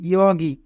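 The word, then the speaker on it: 여기: Young প্রথমে থাকলে young এর উচ্চারণ হয় না, ই ওয়া, গিয়ক মাঝে থাকলে গোয়া ই রাসছি ইয়গি, ইয়গি মানে এই জায়গা।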